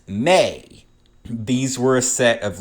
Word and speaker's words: me: The Anunnaki were the keepers of the mi, pronounced may.